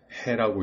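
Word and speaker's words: ה: 화면 좌편에 있는 이 문자의 이름은 해라고 읽으며 소리값은 즉 발음은 흐입니다.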